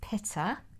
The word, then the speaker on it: pitta: And then the other one is pitta. It's a bit like pitta bread, but it's spelled P-I-T-T-A.